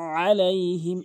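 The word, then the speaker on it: عليهم: আনআমতা আলাইহিম, এখানে আলাইহিম বলে, আলাইহিম আইনের জায়গায় হামজা এনে বলে, এখানে আইন উচ্চারণ করতে হবে।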